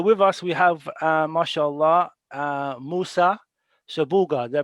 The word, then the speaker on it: Musa Shabuga: So with us we have, mashallah, Musa Shabuga. Did I pronounce that right?